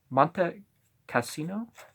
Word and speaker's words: Monte Cassino: on a mountain cliff this place is called month kostina at Monte Cassino you pronounce the e and don't know what's